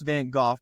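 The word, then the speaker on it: Van Gogh: I think it was Van go I I know it's pronounced van goof but he was known to most as van go when van go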